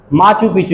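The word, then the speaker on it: Machu Picchu: ठीक है, माचू पिचू ये है जी, माचू पिचू, इसको प्रोनाउंसिएशन इसकी ऐसे ही है, माचू पिचू।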